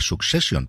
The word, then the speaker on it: Succession: del final de secesión que por cierto se pronuncia succession pero me cuesta horrores decir sucesión y al final siempre digo excepción todos nos extendéis sucesión